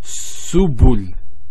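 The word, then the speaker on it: سبل: I'm deliberately not pronouncing the last hard on this letter because when we get to when we start um going into Arabic grammar, we'll find out that this actually changes.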